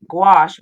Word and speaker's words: gouache: and then take uh I always say gouache rhymes with squash and go over it